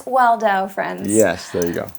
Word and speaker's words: Waldau: I had to ask outside, is it Waldau or Waldo? Listen, it's Waldau. You were close.